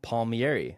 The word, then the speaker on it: Palmieri: have a very special guest here today Kevin Palmieri am I pronouncing that correctly Kevin two thumbs up Josh absolutely what what's the origin of Palmieri yeah people ask me that all the time